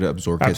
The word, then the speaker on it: Absaroka: I think that's how you say it. Yeah, I think it is too. Yeah. I've heard Absorka too. Yeah, Absorka. Yeah, some people say it like Absaroka.